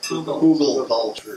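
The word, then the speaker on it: Hugelkultur: Google culture. Google? Google. One person at a time. Thank you very much. No, it's polyculture. No, Google. H-U-G-L-K-U-L-T. Yeah, Google culture. Google. Like who's and who go.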